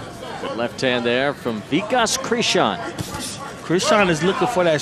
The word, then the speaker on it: Krishan: a Christian is I how you say it Krishan yeah Krishan doing he's tough touching him with